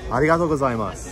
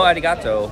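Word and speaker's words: arigatō: in Japan to be polite Japanese all about pronunciation going to be coming from the chest you ready okay arato oh I know Arigato what the second part Arigato Arigato gas gas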